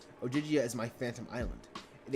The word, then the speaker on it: Ogygia: As to where you are in Ogygia. She pronounced it like Ogygia.